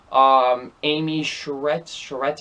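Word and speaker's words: Amy Sedaris: Amy Sherretts, I believe that's how you say her name.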